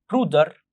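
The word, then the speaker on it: Bruder: براذر الاخ بنقول برودر.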